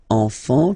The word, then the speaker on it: enfant: Don't pronounce the T, you don't pronounce the S.